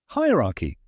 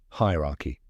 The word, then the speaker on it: hierarchy: Hierarchy. The correct pronunciation is hi ra. Let's break it down step by step. Hi rhymes with high.